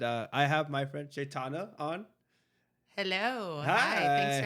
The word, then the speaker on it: Caitanya: Penel podcast and uh, I have my friend Caitana on. Hello. Hi. Thanks for having me on the podcast. Thank you. Thank you. And I pronounced your name correctly. Yes. Chaitana.